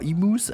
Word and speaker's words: emu: we have got the emo in here with the baby Emos how cool is that uh emus I should say emu they pronounced the u a little bit more so you can see